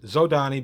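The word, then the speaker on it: Zhodani: I use Zodani because that's how my group always pronounced it. Back in the days before the internet and YouTube and things like that, we only ever read it. So we read it as Zodani.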